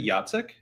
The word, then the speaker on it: Jacek: was curious about also, have I just been mispronouncing your name? Is it Jacek? It's Jacek, yeah.